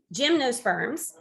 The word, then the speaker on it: gymnosperms: time I taught biology, I told my kids to remember that Jim likes ice cream cones. If you can remember that Jim likes ice cream cones, then you will think of gymnosperms, not obviously spelled the same way as Jim, but gymnosperms as your